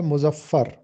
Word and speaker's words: مظفر: مظفر کا سب سے پہلے تلفظ دیکھیے، میم پر پیش لگا ہے، زوئے پر زبر ہے اور فے پر شد اور زبر ہے۔ مظفر، مظفر کا مطلب ہوتا